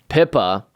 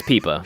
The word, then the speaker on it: Pippa: Turns out that Pippa, the Duchess of Dice, on the dice, those little marks on there are called pips. Thus, Pippa, pips on the dice.